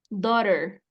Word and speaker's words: daughter: Se va a pronunciar do, tal cual, do, daughter, ¿sale? Así es como va a sonar, daughter.